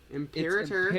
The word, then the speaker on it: Imperator: you Yeah, the my Imperida title. Gracias. What? How'd you pronounce it? Okay, it's Imperator Gracias. yeah, it's Imperator. It's supposed to be Snowy Glacius.